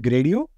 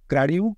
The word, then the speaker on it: Gradio: this is built with gradio gradu depending on how you pronounce it and gradu is now